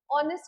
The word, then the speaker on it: honest: देखो साफ दिख रहा है honest, यहाँ पे and लगा हुआ है ऑनेस्ट के साथ एंड लगता है, आर्टिकल का एरर है क्योंकि एच साइलेंट है और वाउल के साथ हमेशा एन लगता है, वाउल साउंड के साथ।